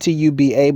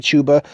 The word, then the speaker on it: tuba: It's spelled Tuba, but they pronounce it like chuba or tuba wine.